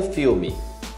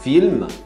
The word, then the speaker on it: film: Papel filme. Que é aquele plástico de embalagem para cozinha. É film, film, você pronuncia o M.